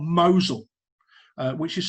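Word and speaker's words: Mousehole: this that in cornwall there's a place called mosul uh which is spelled moscow but it's pronounced mosul and that's the same like mosul in the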